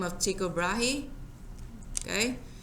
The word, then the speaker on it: Tycho Brahe: by the name of Tycho Brahe he okay that's how you put on a ticker brace and people might pronounce it that way but he had data